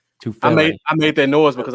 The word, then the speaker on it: Tufele: Did I say his name right? Is it Tufalele? Tufele.